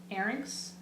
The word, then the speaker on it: Arynx: Arynx. Sounds like larynx. Yeah, that's how I think it might be pronounced.